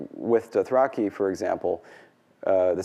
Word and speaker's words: Dothraki: The proper pronunciation of Dothraki is Dothraki, stressed on the first syllable, but the word for dragon, Javorsa, because there's that heavy internal syllable, so it gets penultimate stress.